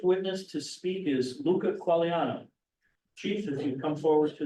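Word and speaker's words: Quagliano: thank you would you state your name and spell it for the record please Luca qualan l u c a q u a g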